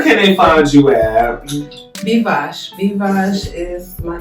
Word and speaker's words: Bvosh: Bvosh. Bvosh is my name on Instagram. You might have to spell that.